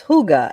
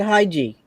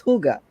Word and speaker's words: hygge: don't uh hugo oh you know i always pronounce it wrong it's hygge and i don't know from the beginning i've always pronounced it hiji and it's hygge yeah thanks for correcting me indiana i took